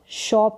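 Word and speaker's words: shop: your यहां पर है एस एच को श शॉप करके पढ़ेंगे सोप करके नहीं पढ़ेंगे शॉप ओपन यानी कि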